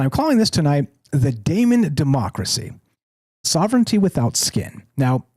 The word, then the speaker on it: daemon: And it's not demon, as you might expect, as James so smartly pointed out in the chat on the Discord before we began tonight. Shout out, James. It's not demon. It's pronounced daemon or daemon, which is D-A-E-M-O-N, or there's another